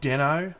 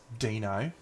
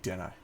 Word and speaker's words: Deno: purple time stop BB my name is pronounced big Deno my last name is Denison many people think it is Dino mostly Americans and bless their cotton socks they do their best but it is big dinner and I do frequently